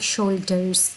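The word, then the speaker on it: shoulders: एक बात यहाँ याद रखिएगा ब्रिटिश और अमेरिकन प्रोनाउंसिएशन की, जो आर है वो अमेरिकन प्रोनाउंसिएशन में सही तरह प्रोनाउंस होता है, लाइक शोल्डर्स। लेकिन अगर हम ब्रिटिश की बात करें तो वो जो एंड पे आर होता है वो उसको ज़्यादा प्रोनाउंस नहीं करते, तो ब्रिटिश में ये होगा शोल्डर। और अगर इसी बात को हम अमेरिकन में करें तो वो होगा शोल्डर्स।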